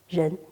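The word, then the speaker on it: 仁: So humaneness, in Chinese pronunciation, 人, the rising tone.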